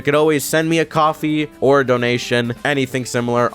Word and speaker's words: Ko-fi: always send me a coffee or a donation, anything similar on the Ko-Fi. You know, it's called a Ko-Fi. It's actually pronounced coffee because, you know, buy me a coffee, whatever.